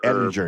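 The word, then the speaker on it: Ehlinger: I want to make sure I pronounce it right. Ettinger. Ettinger, yes.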